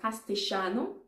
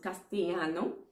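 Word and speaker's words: castellano: different so in argentina they actually speak something that's called castiano which already explains what it is like because other persons would pronounce castillano so what um the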